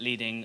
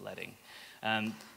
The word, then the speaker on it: leading: So if someone calls it leading, they're mispronouncing it, and you can laugh at them, it's leading.